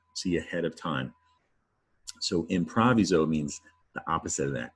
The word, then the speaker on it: improviso: The origin of improvise is an old Latin word, improviso.